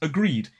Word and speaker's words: agreed: For example, agree becomes agreed. It ends in that E sound. Agreed. And there is a secondary really interesting point to make here.